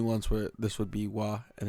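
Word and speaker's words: は: what's going on there the hirana wa therefore has two pronunciations wa in the topic position and ha in most other positions okay I don't think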